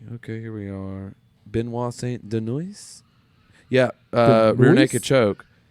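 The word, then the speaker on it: Benoît Saint-Denis: pronounced Saint Denis. St. Denis, okay, well, I don't. He's I actually French. don't know. he is for St. Denis. It's Benoit Saint Denis. That's named Benoit. I thought it was Benoit Saint Maybe. Denis. Probably. I don't know. Benoit French. Saint Denis. Saint Denis. That sounds French when I say it like that.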